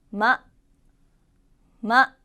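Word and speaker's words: ま: 자, 마는 발음할 때 마, 마 라고 입술을 붙였다가 떼면서 발음해주세요.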